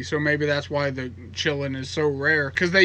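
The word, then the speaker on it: Quillin: and it's called a chilling i guess it's spelled q-u-i-l-l-i-n i think or ln or l-i-n or something it starts with a q i know that but it's pronounced chillin and apparently these are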